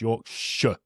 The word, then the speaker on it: Yorkshire: So, yes, Yorkshire, you have not fallen into the trap that a lot of Americans do and assume that the back half of that is Shire. Mm-hmm. Yorkshire. It's not. It's Yorkshire.